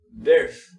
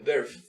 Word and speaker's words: birth: podría pronunciar sola, pero digamos que la podemos pronunciar con esta palabra de birth. Es como una F, tratar de hacer como una F, birth, birth.